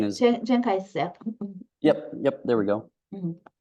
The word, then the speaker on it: Chiang Kai-shek: It was all these rural farmers who had these weapons who started the uprising against Jing Chek, or I'm mispronouncing his. Chiang Kai-shek.